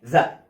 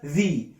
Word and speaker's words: the: قلت لك الحصه اللي فاتت لها نطقين، ليها نطقين، يا اما انطقها ذا كده يا اما انطقها ذي. قلت لك ذي امتى؟ ذي لما يجي قبلها حرف فاول، كلمه فيها حرف فاول، وليكن عايز اقول التفاحه دي، هقول ايه؟